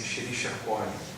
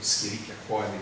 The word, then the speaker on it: Escherichia coli: exemplo, uma bactéria assim, Escherichia coli, ou Escherichia coli, que seria uma pronúncia assim, mais do latim mais eclesiástico, né?